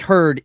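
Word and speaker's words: Heard: It's spelled like herd. H E A R D.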